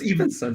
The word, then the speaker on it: Evansen: All the mispronunciation. No. So it's Evansen.